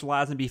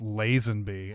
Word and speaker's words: Lazenby: Hello, and as all fans know, his name is pronounced Lazenby and not Lazenby. So I even have that in my notes, and I still said it wrong. Although it could be one of those things where it's like, oh, you're so very British, aren't you? You have to make the long A in something that looks like a short A when you look at it.